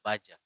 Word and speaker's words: Badja: Baja atau Baja? Baja. Kan ada DJ di situ. Ejaan lama. Ejaan lama.